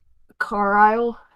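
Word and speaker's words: Carlisle: Carile.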